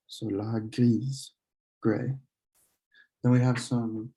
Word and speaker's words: grise: The E on gris causes you to pronounce the S. So la grise, gray.